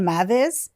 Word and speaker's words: Meiwes: No, like, it's spelled Meiwes, but it's pronounced Meiwes.